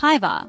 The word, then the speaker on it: päivää: The second word, päivää, sounds like päivää with the emphasis on the first syllable.